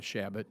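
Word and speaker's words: Chabot: thank you very much we pronounce a shabot but that's okay um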